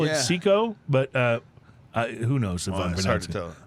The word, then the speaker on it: Cicco: chico or cto how do you say that it's cicco so i call it seco but uh uh who knows it's hard to